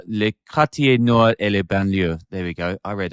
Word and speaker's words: banlieue: Sean, pronounce it for me. Was it Banlieue? Banlieue.